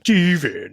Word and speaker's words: Stevan: His name is spelled Stevan. Steven.